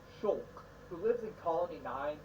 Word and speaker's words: Shulk: we're now met with our actual protagonist shulk pronounced shulk who lives in colony nine together with his